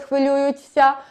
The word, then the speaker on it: хвилюються: Якщо на слово закінчується на «ця», наприклад, «хвилюються», ми його вимовляємо як «ця».